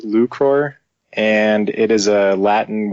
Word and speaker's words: 1ucror: it uh so the the handle is actually pronounced lucro and it is a Latin word meaning to